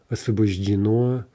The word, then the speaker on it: освобождено: Освобожденный gives освобожден, masculine, освобождена, освобождено, освобождены, right? Again, end stress, and maybe a little bit hard to say at first, right?